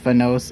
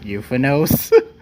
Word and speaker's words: Euphonos: edition I still hate the fact that it's pronounced fenos and not euphinos uh where is the name coming from I